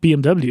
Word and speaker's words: BMW: you know then and then there's the way that the Germans pronounce it which is yeah it's like it's not BMW it's BMV V yeah exactly and